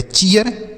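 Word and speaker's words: cheer: अगला सी H double E आर, तो सी एच से च और डबल ई के साथ आर है तो इसका उच्चारण डबल ई का ई है, तो यह हो गया ची। आर से र, तो लिखा गया चीयर।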